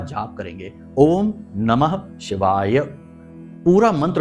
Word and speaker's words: ओम नमः शिवाय: पूरा मंत्र उच्चारण करेंगे बहुत से लोगों को हमने देखा कि मंत्र ही सही नहीं बोल रहे तो काम कैसे होगा मंत्रों में शक्ति है ऊर्जा है तो बोलते ओम नमः शिवा ओम नमः शिवा तो ना तो नमः बोला ना ही शिवाय बोला तो ये गलती नहीं करनी है अच्छे से उच्चारण करना